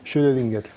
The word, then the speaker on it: Schrödinger: ¿Cómo se pronuncia? Schrödinger.